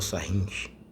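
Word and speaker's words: Sarrus: a gente vai usar sarros ou sarrin né como alguns costumam pronunciar mas na matriz 4x 4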